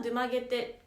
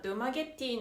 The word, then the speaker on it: Dumaguete: いう印象ですまずデュマゲテの呼び方なんですけど実は定まっていなくて発音は出曲げてらしいんですけどでも誰がどう言い始めたのかわからないんですけどネットではなぜかドゥマゲティの方が情報が